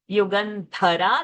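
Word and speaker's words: युगन्धरा: there is nothing accept in the last word युगनधरा that थ इज अ महाप्राण अदृश्य दृश्य रहता विद्या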